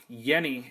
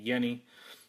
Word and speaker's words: Jenny: not the Forest Gump Jenny that uh that you're used to this is a Yenni and it's pronounced with a Y as far as the